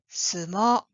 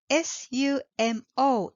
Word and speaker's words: sumo: the last one is sumo it is written s-u-m-o in English and usually pronounced Sumo in English but Japanese pronunciation for it is small the last vowel sound is long not Sumo but it's